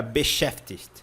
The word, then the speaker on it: beschäftigt: Esse finalzinho aqui pega, né? Ó, Pfticht.